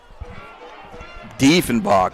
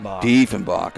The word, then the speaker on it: Diefenbach: Diefenbach is how they pronounce. I'm sorry. We're getting corrected up here. Diefenbach.